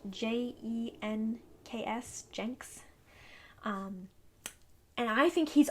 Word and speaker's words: Jenks: i'm saying that the way it would be pronounced j e n k s jenks and i think he's awesome for those